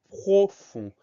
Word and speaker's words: profond: le mot profond alors la première syllabe ne pose pas de problème propre et air eau la deuxième syllabe le son s'est créé avec un f leçon on s'écrit au règne sans surprise mais nous avons une lettre muette c'est le d cette lettre u est